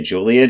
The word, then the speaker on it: Joliet: wonder what ethnicity that is it's interesting in Joliet Illinois is that how you pronounce it yep okay Juliet Illinois in 1940 their Sofer formula was developed